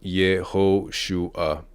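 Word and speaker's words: יהושע: It is Yehoshua. Pronunciation Yehoshua for Joshua.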